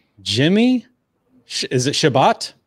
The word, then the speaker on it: Chebat: Jimmy, is it Chebat? Chebat, yeah, you said it right.